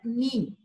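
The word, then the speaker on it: knee: ह्याला काय म्हणतो आपण नी नी म्हणजे काय गुडघा ठीक आहे तर ह्याच्यातही के सायलेंट असतं आणि ह्याला नी म्हणतात तर नो आणि नी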